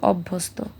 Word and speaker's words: অভ্যস্ত: তো এটা আমাদের সবসময় মনে রাখতে হবে যে ফলা মানে জ ফলা যদি কখনো শব্দের মাঝখানে অথবা শেষে বসে সবসময় যে বর্ণটার সাথে জফলাটা বসবে ওই বর্ণটার উচ্চারণ দুইবার হবে।